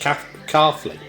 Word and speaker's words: Caughley: 1772 to 1926, porcelain made at Caughley, pronounced Caughley, Madeley and Coalport.